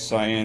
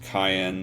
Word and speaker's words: Cyan: mblock is Magic evasion Gary says cyan is really pronounced Cayenne though I don't think I'll ever say that xenover veras says Cy